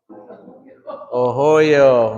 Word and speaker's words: ohoyo: Ohoyo. Remember, it's not ohoyo, it's ohoyo. So that vowel sound will stay constant.